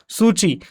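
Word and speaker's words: Suu Kyi: सूची आता तुम्ही जर इंग्लिश माध्यम जर पाहिला तर सुकी अशा पद्धतीने लिहिल जातं परंतु चायनीज आणि दुसऱ्या लँंग्वेज मध्ये म्हणजे चायनीज प्रोनन्सिएशन वगैरे जर आपण यांचा केला तर सुची असा होता त्याचा अर्थ ओके मग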